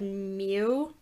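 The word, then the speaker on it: miu: word for cat is it just said mew but it's spelled m-i-u or m-i-u-t um m-i-u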